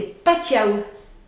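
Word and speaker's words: patiau: Et en patois ou en gallo, ça se dit des patiaou. Des patiaou. Patiaou, patio. C'est pour ça que le patio s'écrit P-A-T-I-A-U et pas patio.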